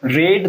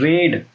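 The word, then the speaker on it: read: रेड रीड वी1 रेड वी2 रेड वी3 रीड रेड रेड उच्चारण वी2 और वी3 में बदल जाता है।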